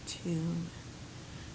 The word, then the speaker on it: tune: Give it a U with the silent E at the end. Okay, let's read the word tune.